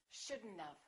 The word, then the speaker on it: shouldn't have: Okay, should not have becomes shouldn't-of.